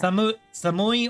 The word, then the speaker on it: 寒い: 外 Do you remember how to say cold, Samai. referring to the temperature of the air? Samui or samai? 寒い Yes, samui. Ah, there we go.